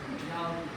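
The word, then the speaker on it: João: टू क्या नाम था जाऊ हम यही यही प्रोनाउंस करेंगे।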